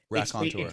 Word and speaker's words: Raconteur: Raconteur. It's we spell it phonetically, Rakontur, but it's a French word spelled Raconteur.